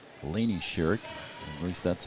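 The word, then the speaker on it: Shirek: that pass there was Shurik Laney Sherik. At least that's how they told me to pronounce it. Shurik. Sh H I R E K. They told me to pronounce it Sherik.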